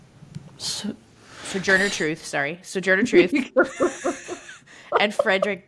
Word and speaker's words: Sojourner Truth: played a role in this convention um were soj Journey truth so Sojourner Truth sorry Sojourner Truth and Frederick Douglas very sorry